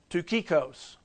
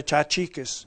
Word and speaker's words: Tychicus: And you can see at the end it says Tukikos. And no, it doesn't say Tychicus. It says Tukikos.